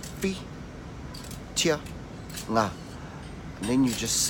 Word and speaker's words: Whitianga: Okay, and then obviously the last part, which is ngā, which you should find easy now because you know how to say the word sing or singing, and you just say ngā.